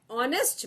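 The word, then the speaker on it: honest: Orange, N इंक पॉट, एन ऑनेस्ट मैन। यहां पर ऑनेस्ट पढ़ते हैं, एच साइलेंट है, इसलिए यहां भी एन लगता है।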